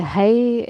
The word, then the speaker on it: haghaidh: An gcaithfidh tú taisteal le haghaidh do chuid oibre? (aghaidh can be pronounced like hay or hi, depending on the dialect) An dtéann tú ar eitleán, traein, tacsaí nó an dtiomáineann tú carr le haghaidh oibre?